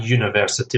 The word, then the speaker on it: university: Whereas university begins with a vowel, but we say a university because there's a consonant sound, even though it's a vowel letter, university.